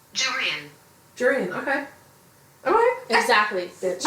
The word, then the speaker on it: Jurian: So I'm just curious, like, how is it pronounced? Jurian.